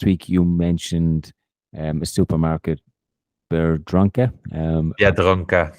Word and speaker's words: Biedronka: Last week you mentioned a supermarket, Biedronka. Biedronka.